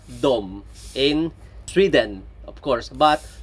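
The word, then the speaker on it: dem: So remember in Swedish they and them are both pronounced dom in Sweden of course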